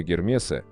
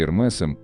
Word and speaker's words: Hermès: 1837 году, и поэтому правильнее говорить не Гермес и не Эрме, а Эрмес с ударением на последний слог, или Эрмес, если ближе к английскому произношению. Кроме того, акцент над «и» во втором слоге предполагает прочтение буквы «с» на конце слова.